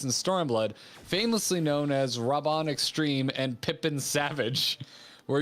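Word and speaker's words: Raubahn: i will do my it's rob on right i've been corrected on my pronunciation but i in a realm were born japanese they made a very big deal of doing they're like robin so i have a tendency to say roban or rauban and like really like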